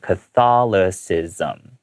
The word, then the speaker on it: Catholicism: So Roman Catholicism, that C there is pronounced with an S sound. Okay. Catholicism.